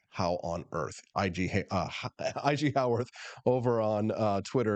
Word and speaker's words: Haworth: Looks like Haworth, but it's pronounced like how on earth.